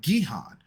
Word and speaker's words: Gihon: So, which brings us to our next river, which is pronounced Gihon.